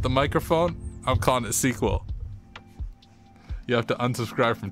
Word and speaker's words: SQL: this trademark, then the proper name way to pronounce it is still sequel. If it's an acronym, what does it stand for? Structured query Well, yeah, okay. It is technically an acronym, but it's pronounced sequel.